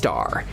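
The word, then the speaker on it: A*: Its name is Sagittarius A, pronounced Aar, and it's 4 million times as heavy as the sun.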